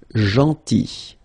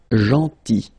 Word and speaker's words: gentil: Then, gentil. So remember this final L is not pronounced. Gentil. Gentil.